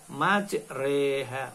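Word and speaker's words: مجريها: ayat 41 Hai dimana tertulis majroha tetapi harus dibaca imalah majreha majreha apa sih malah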